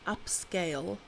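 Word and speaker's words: Upscayl: There's a tool called upscale. Um but it's spelled uh up S C A Y L.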